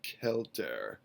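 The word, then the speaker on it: kälter: dots over the vowel so you see alt goes to elter and cult goes to kelter so not only do you need to put two dots over the vowel but you also have to pronounce it alt elter cult kelter and so here's a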